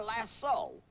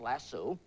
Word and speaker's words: lasso: make a larat or a lasso l a WS o often miss pronounced lassu how can a cowboy